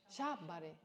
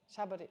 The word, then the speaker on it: Shabari: And in response to that, Shabari, yeah, am I saying it right? No. What is it? Shabari. Shabari. So Shabari said, well, it's in terms of conventions.